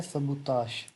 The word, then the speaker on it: sabotage: Copyright, trade secret and सबूताश। इस word की pronunciation देख लें, सबूताश। आखिर पे ये वर्ड आता है ताश, ठीक है, सबूताश।